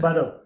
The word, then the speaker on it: Baró: So we've got Joan Baró, and it's Baró, isn't it? Baró. Exactly. Let's get the pronunciation right. Because we don't want to set people at home as well.